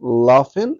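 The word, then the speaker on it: laughing: رسم كان يرسم ذافن لافن خلي بالك بقى كلمه لف معناها يضحك اوكي الجي اتش هنا تتنطق ف ضيفلها اي ان جي احذف الجي هتقول لافن لافن الضحكات او الضحك مان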